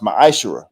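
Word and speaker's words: מעשר: 18:21 and Malachi 38-10 means 10th in Hebrew and is pronounced maish 10% of every penny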